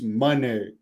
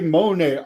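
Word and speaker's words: Moné: I noticed in this she pronounced her name on the Texas thing as Mercedes Monee and every there's a lot of people that say Monae I thought it was Monae so I was kind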